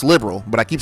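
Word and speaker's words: Liberl: Yes, it's pronounced liberal, but I keep saying libero, but I like labbero because liberal just doesn't sound right.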